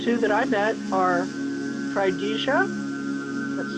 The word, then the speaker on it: Trydiga: The two that I met are Tridija, that's spelled Trydiga, and Nagla.